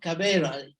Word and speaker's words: Caballeros: first event and then um what was last cavera actually the real pronunciation Spanish which means the gentleman and um